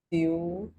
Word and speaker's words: pseudopodia: Pia pura kena pute p is silent and pseudopodia.